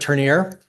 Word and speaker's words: Turnier: Mayor, Council, Manager, Turnier, just Turner with an I, representing Matrix Design Group.